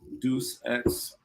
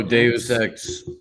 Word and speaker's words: Deus Ex: Pronounce I know in my head I wanted to say Deuce, but you know, depending on which languages, everything gets all mixed around.